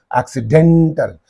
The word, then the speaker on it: accidental: accident you say okay but when it gets this suffix what happens it is get the stress on the syllable preceding the suffix accidental here accident accidental similarly what is that accidentally